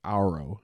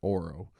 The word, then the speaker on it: Auro: Auro, I figured out it's pronounced Auro and not Oro.